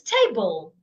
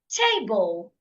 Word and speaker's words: table: be said clearer bull so it's not table it's table table table you need to go fast when you get to the second syllable what if the word